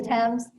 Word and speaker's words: Thames: The Thames? The Thames.